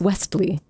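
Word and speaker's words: Westley: that the character's name in Princess Bride isn't Wesley it's Wesley yes West to yeah like I said Wesley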